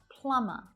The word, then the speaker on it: plumber: Plumber.